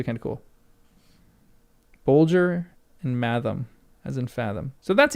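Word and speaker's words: mathom: For example, bul has g as in bulge and math rhymes with fathom.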